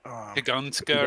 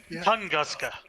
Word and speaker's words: Tunguska: Tugunska or something. I mean, I'm not going to pronounce it correctly. It's Russian. But something like Tugunska. Yeah. Tunguska. Tunguska. Whatever.